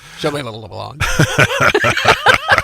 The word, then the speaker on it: Shyamalan: Pronounced it. Shyamalan.